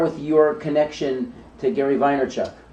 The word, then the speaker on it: Vaynerchuk: So I want to talk about Gary V and start with your connection to Gary Vaynerchuk. Vine in the very vinyl kind of way. In Russian, you would pronounce it Vaynerchuk.